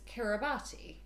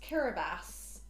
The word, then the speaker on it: Kiribati: -k-i-r-i so I thought it was it was Kiribati hmm so it turns out it's pronounced kiribatas and uh that's because of my complete lack